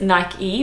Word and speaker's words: Nike: which I don't think so it's Nike because I think Nike is actually named after the Greek god who was like an athlete who run a race or something I don't know he was a big deal he was an is a great God called Nike so there is a right